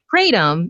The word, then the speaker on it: Kratom: It's Kratom, and I actually found out how to actually pronounce it myself, even though I've been spelling it for several years online now.